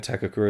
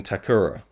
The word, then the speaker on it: Takakura: portrayal by and and Mike Le pronounces Ken takakura his name as Ken takura and I don't I just did I did I did I miss a k there somewhere so I don't